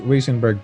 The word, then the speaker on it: Weissenberg: signature saxophones sorry um it's pronounced wiesenberg bella i'm please excuse me and